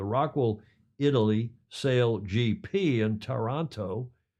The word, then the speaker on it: Taranto: The Rockwool Italy Sail GP in Taranto, not Toronto, but Taranto. How do you say it? Taranto in Italian.